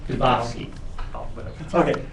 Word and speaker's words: Dubofsky: Yeah, I have a question for, I'm going to botch your name, Justice Dubofsky. Dubofsky. Oh, whatever. Okay. It rhymes with Tchaikovsky.